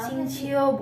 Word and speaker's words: Xingqiu: Gue dengerin orang Xingqiu, bukan Iya. Xingqiu. Cincau. Xingqiu. Aku dengerin Q mereka itu bacanya manggil C sih.